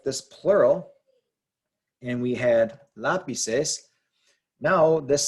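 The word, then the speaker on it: lápiz: it should be right here it's not it's lapis La pis the inflections on the LA facility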